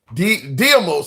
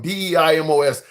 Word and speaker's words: Deimos: In the comments, I did get pushback from, I think it was Diamos. I know I'm pronouncing that wrong. Deimos.